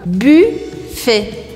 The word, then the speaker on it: buffet: Buffet, buffet. Voilà. Não pronuncie esse T no final.